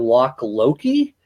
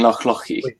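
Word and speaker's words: Loch Lochy: We've talked about Loch Ock and Loch Loki. Probably butchering that. Yeah, so that's Loch Oich and Loch Lochi.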